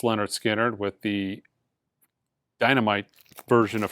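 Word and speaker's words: Lynyrd Skynyrd: you should own list pronounced Leonard skinnard with the dynamite version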